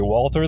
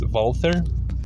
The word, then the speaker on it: Walther: Zea midle East Germany although commonly people say Walther the correct German pronunciation is wther being an industrious settlement Village walther's father August